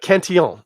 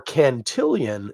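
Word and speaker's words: Cantillon: because opportunity knocked uh did I even say it's uh kentian or cantillion if you want to pronounce it incorrectly too you could say could I get that Lambic cantillion um and that would be equally stupid so that would be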